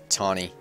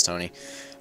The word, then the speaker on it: Tony: I still sometimes pronounce his name Tawny. Just because it's spelled that way, but it's Tony.